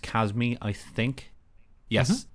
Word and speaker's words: Chasme: and it is pronounced Casmir I think yes according to the Forgotten Realms Wiki it's pronounced kasme or chasme so she has me